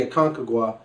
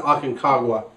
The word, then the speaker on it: Aconcagua: is from the why I keep pronounce to be a conquer Gua but it's probably the Aconcagua I think it's the Aconcagua valley and chili now it's